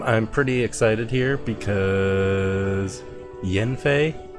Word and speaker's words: Yanfei: pretty excited here because jen fei that's how granny pronounced it i might have to go back in the character screen i've been saying yanfei so that's what it